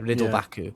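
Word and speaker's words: Ridle Baku: So then we've got nobody, and then we're looking at Riddle Baku. That's how you say it? Yeah, Riddle Baku.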